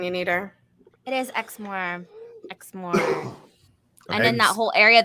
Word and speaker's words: Exmoor: today we're here for the Beast drink of eggsmore and the word now that is now eggs more is how you pronounce it right yes where's Kari yeah where's Kari when you need her it is Exmore and then that whole area they call the